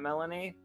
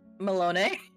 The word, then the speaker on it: Melinoë: And it's been too long since I pronounced the name, and I don't want to say Melanie, and I know it's not Melanie, played by Sparkly. Melinoë.